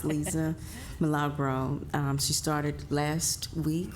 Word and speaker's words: Milagro: And we are proud to introduce the DeKalb County Chief Sustainability Officer, and that is Liza Milagro. Milagro? Lisa Lisa Milagro? Milagro.